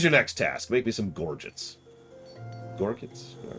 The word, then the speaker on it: gorget: gorgeous hang on that word is losing meaning gorget nope yep that's how it's pronounced your gorgets are well made strong and